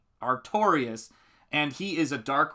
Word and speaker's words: Artorius: Yes, it's pronounced Artorius. Artorius.